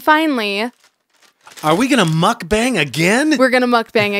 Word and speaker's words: mukbang: And it's not, I don't think it's pronounced, is it pronounced mukbang? Yeah, or usually mukbang? It's mukbang.